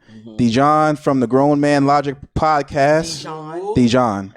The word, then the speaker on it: Dejuan: Dijon. As in the mustard? No, I'm asking, is that how we pronounce it?